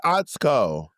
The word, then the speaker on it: Atsuko: But her name is Atsuko.